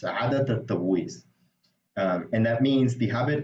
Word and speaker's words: عادة التبويس: So it sounds like عادة التبويس. You see, so it's a bit hard maybe to pronounce initially, but it's عادة التبويس.